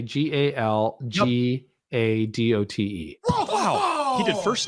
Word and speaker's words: Gal Gadot: So I'm going to say Galgadote.